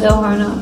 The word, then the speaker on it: horno: to change something and the horno was just fun because it rhymes with porno horno I love fun that's